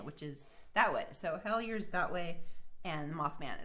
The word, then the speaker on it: Hellier: Hellier, if you're in Kentucky, it's pronounced Hellier.